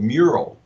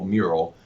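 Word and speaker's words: Meural: That is a digital frame from one of our portfolio companies called Mural. Okay. It's spelled M-E-U-R-A-L, Mural.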